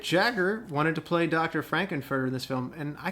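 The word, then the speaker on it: Frank-N-Furter: like I'm massacred in someone's name yes it's pronounced Franken further those guys know uh and vice so in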